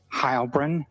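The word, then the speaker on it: Heilbrun: My name is Hybrin. That's spelled and then H E I L B R U N.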